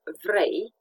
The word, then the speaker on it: vrei: A, in words such as vrei, you want, lei, which has two meanings, lions, and Romanian currency in the plural. And this is pronounced as the EI in vein, for example, the vein.